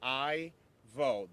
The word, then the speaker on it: Irvo: v o that's pronounced I vote the r is silent Ivo last name is